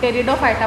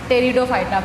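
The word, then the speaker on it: Pteridophyta: पेटेरो नहीं बोलते इसको, टेरिडोफाइटा बोलते हैं बेटा, इसीलिए मैंने आपसे बुलवाया। टेरिडोफाइटा, पी साइलेंट होता है इसमें।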